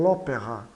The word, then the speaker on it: l'opéra: A elisão, ocorre aqui a elisão do A, do lá, né? Então, l'opéra.